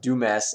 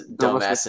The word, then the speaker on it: Dumas: I think it's pronounced Dumas and McPhail, but if you like really pronounce it like an idiot, or not like an idiot, yeah, it's Dumbass and McPhail.